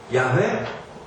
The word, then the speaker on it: 야훼: 나중에 그 Y, H, W, H에 모음을 붙여서 사람들이 어떤 사람들은 야훼라고도 발음을 했고 어떤 사람들은 여호와라고도 발음을 했습니다.